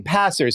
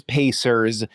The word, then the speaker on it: Pacers: And why do you keep saying the name wrong? You keep saying Passers. Maybe you're not aware of it. I The reason that I know it's Pacers is because their shirts say yes sers.